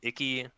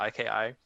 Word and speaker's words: Iki: normal story mode there's uh icky i think is how you pronounce it iki it's an island bordering